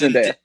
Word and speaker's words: Zendaya: Is that how you pronounce her name? I hope I'm saying that right. Zendaya. Yeah, I believe it's Zendaya.